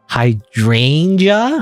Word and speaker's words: hydrangea: this word that I always, I remember mispronouncing. Hydrangea, right?